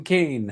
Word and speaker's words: Khayon: the week is that Kane or Kion, I think it's Kane is what they say. You pronounce my name Kane.